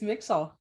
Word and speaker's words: Mixall: Is that how you say it? First of all, is it Mixall? It's Mixall. I was talking to them